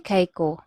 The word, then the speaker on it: kaayo: Okay, an example of that one is kapoy kaiko. Okay, kapoy kaiko. Okay, so it is basically kapoy kaayo ko. Okay, sometimes you might encounter this one. The kaayo is pronounced as kai.